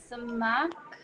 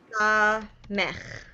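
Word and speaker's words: סמך: Samak. Nice. So it's pronounced Okay. Samech.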